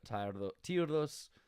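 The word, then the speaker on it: Tyre: the coolest places and i could be pronouncing it like not the way people want like tired i think tear is the way you want to go but the the point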